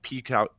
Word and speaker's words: PEAX: Like we have brands where like Peaks Outdoors. I don't know if you've heard of Peaks Outdoors. PEAX is how it's spelled.